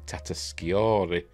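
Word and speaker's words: Tatasciore: in the cave with Lieutenant Steve Levy Fred tatori is how you pronounced that he voices one of the other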